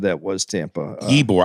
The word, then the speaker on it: Ybor: said that was tampa ebor i think it's because it's the way it's spelt it's spelled ybor okay ibor city uh and then